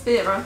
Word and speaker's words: Vera Wang: Vera, there we go, that's how you say it.